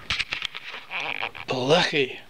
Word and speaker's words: BLEECHIE: uppercase letters, BLEECHIE, exclamation, BLEECHIE. Now, this is hard for some people to say who aren't familiar with German, Scottish, Jewish, Yiddish, and Hebrew pronunciations. The ch sound, ch, like lachayim, lach nesi.